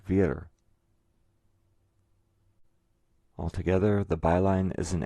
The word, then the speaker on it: vir: So if you translate the letters B and dare into Spanish, you get B-I-R, pronounced vir.